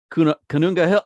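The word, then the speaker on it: Koonunga Hill: Oh, Canunga Hill.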